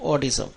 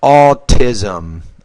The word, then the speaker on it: autism: I think because the the word has two syllables and the second syllable begins with a T autism so the very